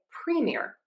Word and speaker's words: premier: I usually say these words as premiere, but some people say premier. Either is fine. The difference here is going to be syllable stress.